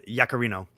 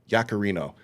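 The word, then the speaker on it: Yaccarino: What's Do you know how to pronounce this woman's name? Uh, Yakarino. Yakarino.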